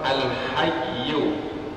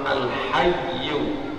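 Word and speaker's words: الحي: Sekarang kita pelajari terlebih dahulu nama yang ke-63, yaitu Allah Al-Hayyu, yang Maha Hidup. Apakah makna Allah Al-Hayyu atau Al-Hayy? Kalau kita membacanya sukun.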